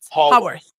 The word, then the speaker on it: Haworth: Dot Davies is gonna join us in a little while, and she's from Thomas, say it right, because I want to say Hayworth House, but it's Haworth.